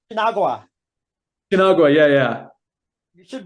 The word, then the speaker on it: Shu-Nagua: because haven't got a hope in hell of pronouncing the band name. So what was it? Shinagua. Shinagua. Shinagua, yeah, yeah. You should bloody spell it like Um, that, and so it's easier to say. yeah, Shunagua.